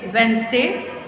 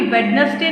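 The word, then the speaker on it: Wednesday: Monday, ट्यूसडे, वेंसडे, हाँ जी वेडनेसडे नहीं बोलते, वेंसडे बोलते हैं जिसमें डी साइलेंट होता है।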